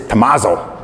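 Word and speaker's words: Thomazeau: we're at at Thomas though actually pronunce is Amazo but I'll say Tom Izzo it's easier that way this is the orphanage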